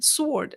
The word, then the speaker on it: sword: person who corrected me if you are listening sword a golden sword okay here we go he